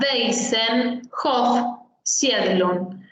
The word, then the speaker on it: Waisenhof Siedlung: La W en alemán se pronuncia como una B corta. Waisenhof Siedlung.